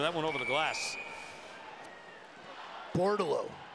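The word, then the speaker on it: Bordeleau: Bortolo. It's a great hockey name. Terrific. You like it because it rhymes with Bordeaux.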